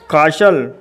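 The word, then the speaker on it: castle: टी एल ई जसल सी ए एस टी एल ई कासल पी ई एस टी एल E Peshal तो देखा दोस्तों इन सभी शब्दों के अंत में एस टी एल ई आया है इसलिए दोस्तों इन शब्दों में टी साइलेंट है तो ऐसे शब्दों में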